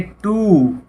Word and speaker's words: two: आगे टू, TWO, टू, W silent है यहाँ पे।